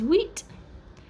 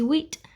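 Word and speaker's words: huit: cease seven is set eight is wheat nine is nuff and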